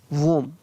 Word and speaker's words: womb: ये याद रखना आप, इसको आप टॉम नहीं पढ़ लें, ठीक है ना। ये दो वर्ड है, टूम और वोम, ये बहुत इंपॉर्टेंट वर्ड है, इनका उच्चारण आपको सही करना, टूम और वोम।